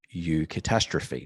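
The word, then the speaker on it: eucatastrophe: writings of the 20th century literary giant tolken U catastrophe now I'm saying U but it's pronounced it's spelled EU catastrophe this is a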